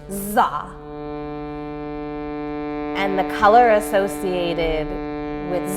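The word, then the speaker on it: dza: And that seed syllable is Za, and it's spelled D-Z-A, pronounced Za.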